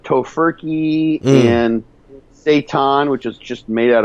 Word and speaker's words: seitan: Oh, yeah, it's seitan, like Satan, but it's seitan, I think is how you pronounce it.